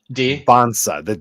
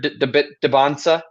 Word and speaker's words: Dybantsa: I believe it's Dybantsa. The T is silent, oh, and gotcha. I believe the Y is an E.